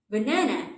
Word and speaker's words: banana: Banana has three syllables. Banana. The stress on the second syllable. So the second syllable will be longer, louder, and a little bit higher. Banana. There's also a difference between the sound of the A in the three syllables for the stressed syllable. The A sounds like na, and for the unstressed syllable, the A sounds like a.